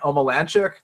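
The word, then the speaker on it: Omielańczuk: Omililanchik? Omilunchizuk? I mean, you got it right the first time, man. Omilanchuk.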